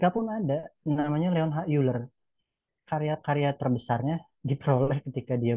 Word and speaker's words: Euler: Sampai Euler membuktikan, Euler bacanya ya.